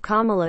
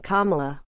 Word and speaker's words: Kamala: repeated the oath but with the proper pronunciation of her name placing the emphasis on the first syllable of kamala so in this historic